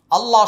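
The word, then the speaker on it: الله: হি খলকুল্লাহি হাদা খলকুল্লাহি আল্লাহ শব্দের পূর্বে পেশ থাকার কারণে আল্লাহ শব্দের মাঝখানে লামের উচ্চারণ মোটা হবে আর এক আলিফ টান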